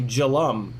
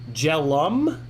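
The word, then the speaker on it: Jelle: last e of my so the last e of my name pronounce it as a u like um uh so that would be jalam really jellum captain really j-e-l-l-e becomes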